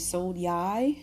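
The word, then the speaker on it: Sonai: conjection and uh yeah so again how to pronounce her name it is Soni Sky V and Soni is an iteration of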